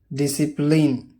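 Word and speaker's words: discipline: अक्सर एस के बाद और के से पहले सी साइलेंट होता है। एग्जाम्पल देखिए, सीन मंजर, साइंस डिसिप्लिन अदब और सलीके को बोला जाता है।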